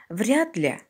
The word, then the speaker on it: вряд ли: в слове вряд ли на конце слова пишется Т или д когда мы произносим слышится т а когда пишем D вряд ли сюзина произносим